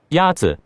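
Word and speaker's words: 鸭子: Yazi is pronounced with a first tone.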